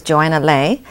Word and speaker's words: Joanna Lei: Today I'm really honored that my guest is Joanna Lei, who is managing partner of Azure Management.